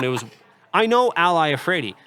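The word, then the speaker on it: Iafrate: It was I know Ally Efrey, but the way it's spelled is capital I A F R A T E. And when you look at it on a piece of paper, it looks like an L.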